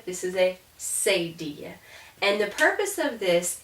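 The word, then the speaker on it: cedilla: those sounds um and this is called a say dia like tortilla this is a seidia and the purpose of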